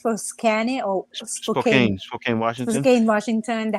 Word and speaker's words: Spokane: How do you pronounce Spokane or Spokane?